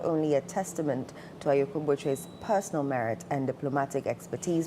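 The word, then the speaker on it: Botchwey: So congratulations to Shirley Ayoko Boche again. When I started journalism, I said I pronounced the name Bochwe. I pronounced it as it was spelled.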